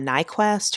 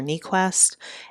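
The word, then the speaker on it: Niequist: her name right but it's Shauna nyquest or neest n i e Qi s t and I'll drop a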